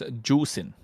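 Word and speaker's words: Zuxin: I mean, it's not Zushin, it's Juicin. That's how you say it.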